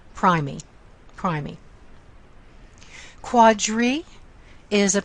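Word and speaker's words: primigravida: but it should be a long I sound pry me cry me quadri is a prefix that means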